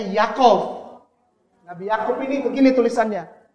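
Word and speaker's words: יעקב: Ini Yod Yi Akob. Bacanya Yakov.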